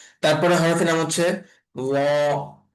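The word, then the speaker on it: ل: তারপরে হরফের নাম হচ্ছে ল। ল। আমরা সা আর দাল এই দুইটাকে উচ্চারণ যেভাবে করেছিলাম নরম করে, তো এই ল এর উচ্চারণটা এরকম নরম করে উচ্চারণ হবে।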